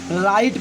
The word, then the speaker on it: writ: इस तरह WRIT, यहाँ W के तुरंत बाद R आ गया, इसलिए इसे हम राइट पढ़ेंगे।